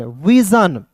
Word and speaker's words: vision: बहुत लोग इसे सन पढ़ लेता है, नहीं, सन नहीं पढ़ना है, इसे क्या पढ़ना है दोस्तों, जन पढ़ना है, ठीक है।